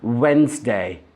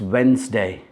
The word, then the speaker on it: Wednesday: of the week is Wednesday it's not redness day it's Wednesday the D in that word is actually silent it isn't pronounced at all moving on to nether